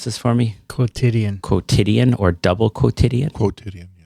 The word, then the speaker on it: quotidian: Are you going to pronounce this for me? Quotidian.